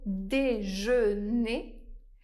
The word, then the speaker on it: déjeuner: Par exemple, dans le mot déjeune. Le dernier son de la syllabe est le son /n/. Mais dans le mot déjeuner, le dernier son de la syllabe est le son /ø/.